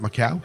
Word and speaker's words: Macau: about macau i think i said that right macau you did say it right macau yes do